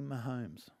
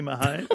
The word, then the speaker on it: Mahomes: I caught up with Patty Mahomes. Is that how you say it? Yep. I wasn't sure. Patty Mahomes.